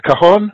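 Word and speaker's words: cajón: Also, I was very intrigued by your choice of I'm not sure if I'm pronouncing this correctly. Is it a cajon?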